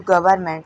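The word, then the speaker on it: government: और उसके बाद एक जो गवर्नमेंट लिखा है उसमें एम बाद में है। इसको गवर्नमेंट नहीं पढ़ते उसको गवर्नमेंट। इसमें भी एन साइलेंट रहेगा।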